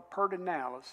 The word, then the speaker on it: Pedernales: And they call it the Pedernales, and it's spelled Pedernales, I think.